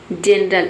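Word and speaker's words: general: आया है तो यहाँ पे जी का जो प्रोनाउंसिएशन है वो ज हो रहा है। जिंजर मीन्स होता है अदरक। जनरल यानी कि सामान्य, जिम मीन्स जिम।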